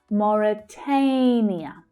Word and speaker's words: Mauritania: Mauritania, Mauritania. So that stressed syllable there is the third, the A as in day vowel sound. Mauritania. And we can hear the first sound quite clearly too.